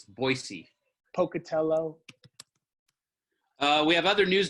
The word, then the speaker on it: Boise: big I've ever been boys pronounce Boise oh it's not Boise it's Boise Pocatello we have other